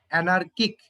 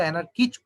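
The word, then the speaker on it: anarchic: আর হচ্ছে যে তোমার অ্যানার্কিক, ঠিক আছে, এটার শেষে এইচ হবে না, এইচ থাকলে তো অ্যানার্কিচ হয়ে যায় উচ্চারণ, ব্যাপারটা তা না।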